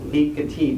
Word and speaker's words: Piketty: I think it's Piketty, but it's emphasized last. You have to emphasize every syllable equally in French.